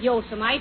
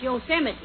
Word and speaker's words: Yosemite: these western names right it isn't yosomite it's yosemite oh yeah and what